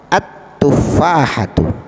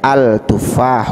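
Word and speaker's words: التفاحة: enak ya Ini juga tidak boleh cara membacanya alif lam nya tidak boleh dibaca hai langsung ke huruf pertama dari urutan daripada tufahah at tufahatun tidak boleh kita baca Al tufah udah boleh jadi atuh rahu record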